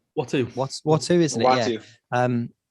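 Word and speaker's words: Uatu: I don't know if it's my dyslexia or whatever, but I can see the way that it's written, and I can't pronounce it. It's Watu.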